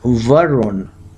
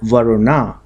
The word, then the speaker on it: Varuna: the Western direction is ruled by the deity verun or some people can call it varuna I'll spell it for you it's v a r u